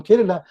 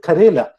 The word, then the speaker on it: Kerala: tell you are from kerala they might they they may even mispronounce it they call it karela karela is a bitter